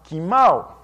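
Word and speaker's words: κοιμάω: menciona es la palabra kimao. Se transcribe koimao y se pronuncia kimao en griego.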